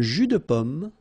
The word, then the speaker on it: jus de pomme: In most of the cases, French people will pronounce it like un jus de pomme. Jus de pomme. All right? And then same thing here, un jus de tomate. Okay, so you don't insist on the de.